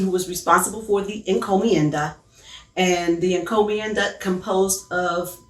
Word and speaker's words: encomienda: Spanish used was called the encomienda I hope I'm pronouncing it right yes yes you are okay well uh encomienda it comes from the